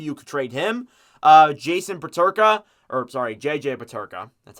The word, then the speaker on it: Peterka: JJ Peterka, that's how you say it.